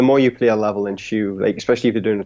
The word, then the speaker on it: Shu: specifically for Shu is that how do you pronounce the name of the game by the way hey Shu yes yes oh yeah okay okay yeah yeah